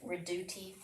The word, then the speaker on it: Redoute: They started out saying Redoubt, and then I think someone that really knew said Redoute, but we all say Redoubt.